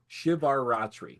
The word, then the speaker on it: Shivaratri: The it is maha uh shivar shivar ratri shivar ratri.